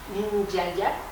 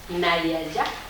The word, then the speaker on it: Nyaya: Pero digamos, los 5 momentos son la cultura Nyaya, o se puede pronunciar Nayaya, según dice la fonética, hindú.